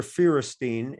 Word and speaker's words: Feuerstein: So it's like the word fewer, F-E-W-E-R, but it's F-E-U-E-R and then Steen.